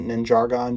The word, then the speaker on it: Ninjagon: that being called ninjagon it could be pronounced a different way but i always pronounced it ninjargon just because you know ninjago ninjagon you get it but basically it is